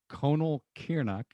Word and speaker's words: Conall Cearnach: your new edition of conal kiernach we how's that for pronunciation no i think that's right all right one of many legitimate variations so colonel kearney's the